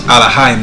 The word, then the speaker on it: Elohim: Elohim. Elohim. It's Third Alahayim. entry. Eloah. Eloah. Alright. So you heard it, but it's pronounced Alahayim.